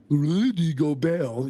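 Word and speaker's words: Gobert: Rudy go Rudy go go Bell you got to say it like you got a something on your tongue like a Frenchman when he was out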